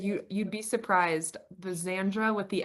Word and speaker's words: Xandra: Is it Zandre?" And I'm like, "It's just Xandra, short for Alexandra. It's more simple than it sounds."